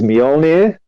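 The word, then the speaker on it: Mjölnir: Um which I really don't know how to pronounce, but this is something I did look up just so I got it right. Is Molir.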